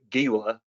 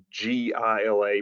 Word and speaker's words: Gila: Kentucky like me, you wanted to pronounce it Gila, G-I-L-A, pronounced Gila though, for everyone who's interested.